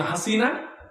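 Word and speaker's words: حسنة: অর্থ হলো আল্লাহ দুনিয়ায়ও হাসিনাকে আমারে দাও, আখিরাতেও হাসিনাকে আমারে দাও, সুবহানাল্লাহ নাউযুবিল্লাহ। অর্থটা না জানলে, উচ্চারণ ভুল হলে কত বড় মারাত্মক সমস্যা হয়। আমি তারে শিখাই দিলাম ওখানে হাসানা বলতে হবে। উনি এরপরে রব্বানা আতিনা ফিদ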